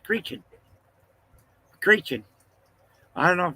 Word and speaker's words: Creighton: But over there, Creighton is not pronounced Creighton, it's pronounced Creechin.